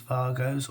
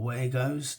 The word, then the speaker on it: Wago: We now use Vargos or Wagos, depending on how you pronounce it and where you're from.